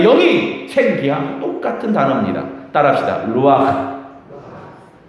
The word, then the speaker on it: 루아흐: 루아흐. 가래가 좀 끓는다 그러면 아주 발음이 잘하는 겁니다. 루아흐.